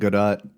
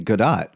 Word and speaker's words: Godot: Um, and uh, the guy the guy just kept saying god dot go dot like robot but god dot like he was pronouncing it like that.